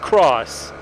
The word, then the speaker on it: G650X: They replaced it with 3 cross models or X models, G650X models, that are usually by the people who are in the know pronounced cross.